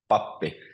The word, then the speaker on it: pappi: Or pappi, which means priest, pappi. So it's always on the first syllable.